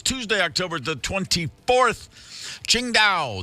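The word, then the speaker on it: Tsingtao: Tuesday October the 24th Ching da The Brewery from China it's spelled TS i n g t a o if anyone's going what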